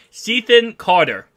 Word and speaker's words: Cethan Carter: Cethan Carter is his name.